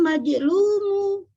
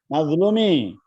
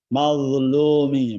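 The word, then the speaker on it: مظلومِ: Mazlumi, mazlo ya. Mazlumi. Enggak tepat. Jangan sampai kayak zal ya, atau seperti za.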